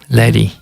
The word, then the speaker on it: Лари: И вообще ударение на последний слог. Угу. Оно означает, я знал, это буддийское имя, оно означает навес над Буддой по-тибетски. Лари.